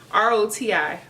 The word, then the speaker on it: Roti: Roti, R-O-T-I, Roti.